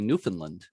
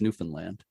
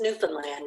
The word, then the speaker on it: Newfoundland: know a lot of americans tend to say newfoundland but i've been corrected before yeah that it's newfoundland yeah just newfoundland yeah newfoundland okay yeah and i was just